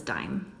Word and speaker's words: dime: this just says dim we want to get the sound of a long I so how do we get this out of a long I we put silent e on the end now it says dime the value of the